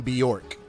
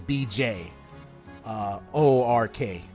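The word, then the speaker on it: Björk: The name Bjork. Now that I think about it, reminds me of the name Bjork, which is BJ. O-R-K. Bjork.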